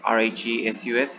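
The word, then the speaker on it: Rhesus: special type of antigen so it is pronounced as rhe sus resource factor so recess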